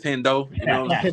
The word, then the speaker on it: Hendo: Everybody call it Hindu, but it's Hendo.